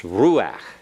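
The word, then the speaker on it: רוּחַ: accented you don't say ruach it's ruach you put the accent on the roux and the ah you back off of the emphasis okay so everyone pronounce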